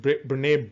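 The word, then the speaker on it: Brené: at its knees um rene pronounce it bernay brown says shame derives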